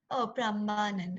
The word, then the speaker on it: Prambanan: Oh, Prambanan. Oh, okay. I think I mispronounced it.